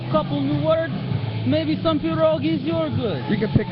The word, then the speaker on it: pierogi: Pick up pierogies in Chinatown? Don't ask. It's this little Russian hole in the corner store. It's pronounced pierogi.